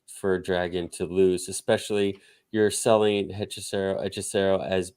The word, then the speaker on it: Hechicero: Hechicero. Hechicero.